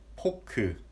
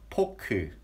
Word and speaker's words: 포크: We don't have F pronunciation. We say 포크. It sounds like a P. 포크.